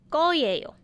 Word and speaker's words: 거예요: 을, and then little spacing there, and then you need to finish your sentence with 거예요, but mind the pronunciation, it's 거예요.